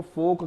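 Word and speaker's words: folk: जो चीज हैं उनको फोक कहा जाता है तो लोक में हम यहां एल को साइलेंट देख रहे हैं और के जो है यहां पर साउंड कर रहा है गुड कैन का पस्त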